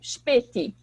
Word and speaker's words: Spätkauf: Então, vocês provavelmente repararam na minha pronúncia que o S, quando ele vem, por exemplo, antes de P ou T, ele tem esse som como se fosse um CH, Spät, né?